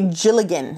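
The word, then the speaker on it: dealgan: favorite type of spindle it's called a gilligan it's not spelled that way it's spelled d-e-a-l-g-a-n it's a scottish style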